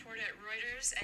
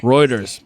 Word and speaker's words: Reuters: go to YouTube and type in how to pronounce is uh playing right now. I'm just trying to wait. Reuters Reuters.